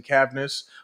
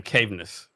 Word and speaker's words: Cavness: you know it's crazy like 95% of people pronounce my name caveness oh no there's no e in this it's like are you like yeah there's no e in here I'm glad I got